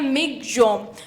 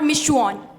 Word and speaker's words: Michaung: जम इसको बोलते हैं इसका प्रोनंसिएशन होता है मिग जम नॉट मिसन जो इसकी स्पेलिंग होती